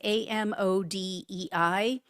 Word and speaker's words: Amodei: And his name is, I think it's pronounced Mark Amadei. It's Amodei.